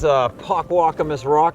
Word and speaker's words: Pockwockamus Rock: So I take it this is Pockwockamus Rock. Did I pronounce it correctly? Yeah, as far as I know.